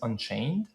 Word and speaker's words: Anchain: The first one you mentioned is Unchain? Yeah. An, A-N, and then chain.